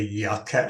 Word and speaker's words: Yuka: So most of you are using the Yucca app now. That's spelled Yuka.